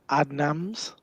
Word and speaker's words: Adnams: I think you'll find it's pronounced Adnams. Just for future reference. Adnams. That's how I'll say it from now on.